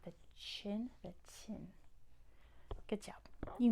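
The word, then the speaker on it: Qin: good not okay so you can say chin but it's really chin say chin without pushing your lips out Chin Chin there you go spelled like this tin the tin Dynasty not the chin the tin good job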